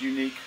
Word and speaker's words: Yuneec: here is a uh unique q500 it is pronounced unique I know that the name looks funny but um we're going